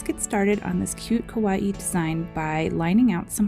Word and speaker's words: kawaii: so let's pause and look up what exactly kawaii art is and yes it's pronounced kawaii not kawaii the japanese concept of kawaii is best translated